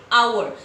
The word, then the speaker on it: hour: But here we don't say our, we say our. So here H is silent.